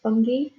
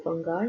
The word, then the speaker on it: fungi: You've then got group 3, which is for fungi or fungi, depending on how you want to pronounce it, which is your molds, your mushrooms, yeast falls into that as well.